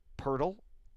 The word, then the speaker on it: Poeltl: DeRozan comes over along with Jakob Poeltl. And yes, that is pronounced Poeltl.